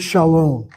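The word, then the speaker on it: שלום: You see that word shalom? I spell it with the last syllable. Long vowel is closed. A long vow in a closed syllable is not regular. It has to be accented.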